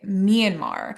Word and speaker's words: Myanmar: Myanmar. I always want to say Myanmar. Yeah. Myanmar, but it's Myanmar.